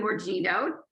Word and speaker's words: Morgigno: I have a very special guest with us today, Morgigno, right? Did I pronounce it right?